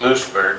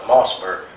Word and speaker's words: Moosburg: And then we marched from Munich to, well, we pronounced it Moosburg, but I went back this time, they call it Mossburg.